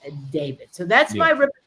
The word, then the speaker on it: D4VD: Whatever it is, it's not good for D4VD, pronounced David.